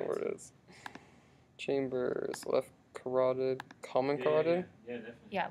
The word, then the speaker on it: carotid: Carotid.